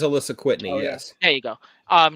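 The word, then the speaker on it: Alisa Kwitney: the uh basis for i'm gonna say her name wrong alyssa nitwii who wrote the rogue prose novel okay i know what you're talking about i believe it is alyssa whitney yes there you go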